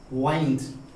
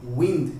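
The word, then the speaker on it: wind: Spelling यही रहेगा लेकिन जब हवा का सेंस होगा तो उसे हम विंड प्रोनाउंसिएशन देंगे, उसकी उच्चारण विंड होगा। लेकिन जब रैप करने का सेंस हो, रैपिंग करते हैं वैसे, तो उसकी प्रोनाउंसिएशन वाइंड होगा।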